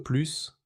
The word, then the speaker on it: plus: Dans plus de pain, le S est silencieux. Mais dans J'en veux plus, le S se prononce pour insister.